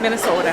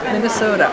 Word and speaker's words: Minnesota: Minnesota. Minnesota.